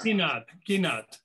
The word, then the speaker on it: Ginat: Janat. How do I pronounce it? Janat? With a hard G, like guitar. Ginat.